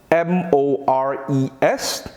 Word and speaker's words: mores: at mores as you may have noticed here it's spelled m-o-r-e-s but it is pronounced mores maurice refers to